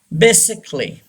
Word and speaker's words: basically: A is silent. Basically. Don't say basically. अक्सर लोगों को देखा है बेसिकली कह रहे होते हैं. ये रॉन्ग है. Basically. We don't pronounce a, okay, because it comes before double ly.